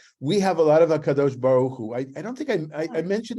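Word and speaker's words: הקדוש ברוך הוא: You're supposed to pronounce it Hakadosh Baruch Hu, not Hakadosh Baruch Hu, right? That would be the Ashkenazic pronunciation, but it is the Holy One, blessed be him.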